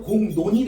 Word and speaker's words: 공론: 공론은 리을이 자음 리을이야. 리을. 리을이 앞일까 뒤일까? 아니야. 앞이야. 앞에 음은 이응의 영향을 받아서 앞에 음은 이응의 영향을 받아서 콧소리 비음인 니은이야. 니은. 니은으로 바뀌었죠. 그래서 공논이 됐잖아 얘들아.